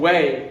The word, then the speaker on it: は: You have your native language, so you have your own way in your own native language, right? So we say this ha, we pronounce wa naturally, but you need to know that, okay?